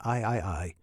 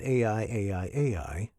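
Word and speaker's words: AIAIAI: And it's pronounced I I I not AI AI AI. I know that because I asked the manufacturer.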